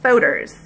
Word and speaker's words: Fodor's: I polled three of my friends, and the consensus is it rhymes with folders. It's like the Kentucky pronunciation of folders, like Fodor's.